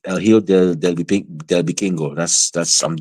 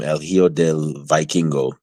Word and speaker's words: El Hijo del Vikingo: El Hijo del Vikingo. I'm using the Spanish pronunciation. Or as how some people in America call him, El Hijo del Vikingo.